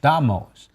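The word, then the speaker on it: Damas: It actually is D-A-M-A'-S, pronounced Damos.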